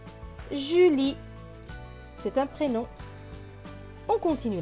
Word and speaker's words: Julie: Le E à la fin est écrit en bleu, du coup il ne se prononce pas. Donc ce mot va se lire ju, li. Julie.